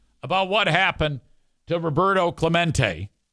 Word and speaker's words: Clemente: ] awesome rant about what happened to Roberto Clemente. Clemente Clemente.